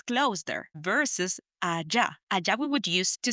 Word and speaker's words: allá: And these two words are allí, spelled A-L-L-I with an accent on the I, or allá, spelled A-L-L-A with accent on the last A, allá.